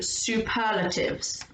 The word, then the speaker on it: superlative: So we are moving on to superlatives. See if you can say that word, superlative. There's 4 syllables in there.